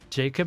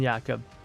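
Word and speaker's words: Jakob: They pronounce it with a Y.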